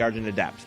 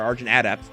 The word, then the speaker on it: Argent Adept: to show you the argent adapt now the origin of depth or arjun adapt depending on how you put the wrong fastest on the wrong syllable um is a really